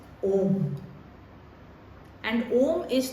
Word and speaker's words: Om: M three Matas and it is not pronounced as like how uh many um systems pronounce especially you see this pronunciation by uh the yoga people that is not how om has to be pronounced om is pronounced as om and om is not